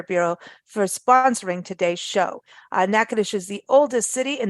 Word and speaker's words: Natchitoches: convention and Visitor Bureau for sponsoring Today's Show nakadish is the oldest city in the state of